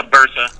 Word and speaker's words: bursa: had ruptured one of the, I'm going to mispronounce this, was it bursa sacs, or do you know that? Yeah, bursa.